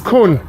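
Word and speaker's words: Kuhn: Khun is Khun. the correct pronunciation.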